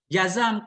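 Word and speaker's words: جزم: Awil jazmu, atau jazam kusta, jazam bacanya bi fathataini.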